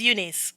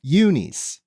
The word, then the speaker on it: Xunise: a child I'm okay so how do you pronounce your last name it's Unice Unice yeah like Unice but nce ah so wait okay okay Unice